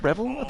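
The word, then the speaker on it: Revill: Marvel villain he's actually voiced by a Clive revelant that's how you pronounce his name he is better known as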